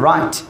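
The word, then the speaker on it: write: ঠিক করে নিতে হবে শব্দের শুরুতে যে ডব্লিউ আসে সেখানে ডব্লিউ এর উচ্চারণ হয় না যেমন রাইট রেস্ট এস সি পাশাপাশি আসলে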